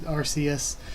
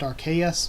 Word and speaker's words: Arceus: which means God, that it's actually pronounced Arceus, which would make sense because it's the RKS system. So yeah, maybe we've been pronouncing it wrong the entire time and it is pronounced Arceus and not Arceus.